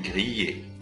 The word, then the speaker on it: grillées: بس دي بنضغط شويه على الحرف فبنقول جرييه زي كلمه فيا فبنضغط جرييه.